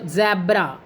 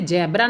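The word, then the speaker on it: ज़ेब्रा: जैसे ज़ैब्रा, ज़रा, फौरन आदि। यानी कि इनका जो उच्चारण है, हम जैसे ज के नीचे बिंदु लगी है तो हम इसे जैब्रा ना कहकर ज़ैब्रा कहेंगे।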